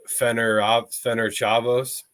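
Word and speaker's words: Ferencváros: Then we go to Fener Chavos, I believe is the pronunciation there.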